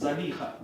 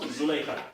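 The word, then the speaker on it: زليخا: So, because there is no ta' marbuta, many scholars say it's better to pronounce it as Zalikha, not Zulaykha.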